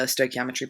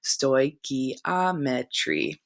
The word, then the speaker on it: stoichiometry: background again I pulled this directly from the stoichiometry puggle chemists use balance chemical equations as a